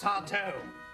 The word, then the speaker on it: Sardo: That's Sardo. No, mister. Accent on the toe.